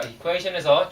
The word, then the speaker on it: equation: 자, equation에서 주의해야 될 발음 바로 tion입니다. 보통 tion 하거나 그럴 텐데 그렇게 안 되고 tion이 될 경우 tion이 됩니다. tion. 그래서 sh 발음이 들어가요. tion. 그래서 equation. 그래서 equation 하면 되고요.